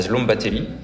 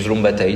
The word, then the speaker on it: Szombathely: en arrivant en Hongrie, à Szombathely, ou Szombathely, ça dépend un peu comment on prononce, où il y a